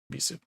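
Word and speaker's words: Ebisu: Yeah, Ibisu.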